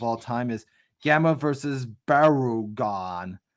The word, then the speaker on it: Barugon: time is Gamera versus Barugon. Barugan. Unless I'm saying it right, or You got it. Baragon is. Barugan. I don't want people to get confused with the Baragon from the Toho company, or because You really want to wig people out.